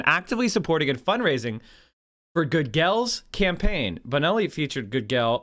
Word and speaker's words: Gudgel: mike can't say anyone how do you say his name it's good good good girl that's what i said i said good girl okay whatever good girl